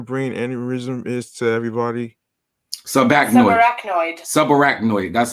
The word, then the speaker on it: subarachnoid: Subarachnoid.